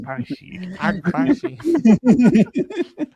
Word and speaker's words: Agbaji: Agbashi. It's funny because you pronounced it right, but it was just the way With it no came out was confidence. funny. Yeah, you said it right and gave up on yourself halfway through.